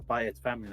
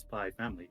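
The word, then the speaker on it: Spy × Family: that's why everyone's like oh it's it's it's by its family like no it's spy family it's just a symbol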